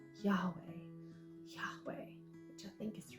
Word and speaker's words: Yahweh: they try to then add some vowels with it Yahweh which is just an easier way to try and pronounce the yhwh which is Yahweh Yahweh which I think